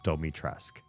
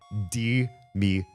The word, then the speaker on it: Dimitrescu: And they used their fucked up pronunciation in Japan and used in the American localization, they call her Domitresk. Domitresk. Her name is Dimitrescu.